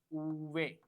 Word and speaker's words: uve: The pronunciation of we is uve. Uve. The pronunciation of we is uve. Uve. For example, ventilador. Ventilador. Ventilador. Ventilador means fan. Venti. Venti. Venti is 20. So the pronunciation of V is uve.